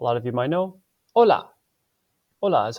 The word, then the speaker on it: hola: of you might know, hola. Hola is how you say hello in Spanish. One thing to pay attention to, the letter H does not make any sound. Pretend it's not there.